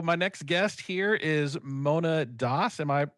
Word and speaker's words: Mona Das: So my next guest here is Mona Das. Am I pronouncing your name correctly?